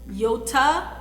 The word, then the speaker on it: Yotta: The other bank that I absolutely will recommend for a savings account is Yoda. It is Yotta. Yoda, however you want to pronounce it, that's how you spell it, Yotta.